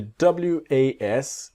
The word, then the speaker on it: was: And the W-A-S, it's like a Z, the was. Not was, but was.